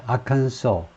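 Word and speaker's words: Arkansas: 주사입니다 아이 아한 소스 S 발음 하면 안 돼요 미국 사람들 한소가 하도 작은 주의이기 때문에 아소스 이렇게 발음하는 사람이 많다 그래가지고 서로들 인정하는 건데 S 발음이 없이 아칸소 아칸소 이렇게 되는데요 아칸소의 주사이다 and has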